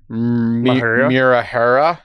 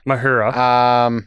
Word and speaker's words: Mahura: So I don't know how to exactly pronounce his name, and I'm sorry, but I believe it's Josh Mahura. Mahura.